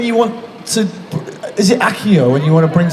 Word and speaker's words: Accio: Is it Accio when you want to bring something to? Yeah, Accio. I pronounced it wrong.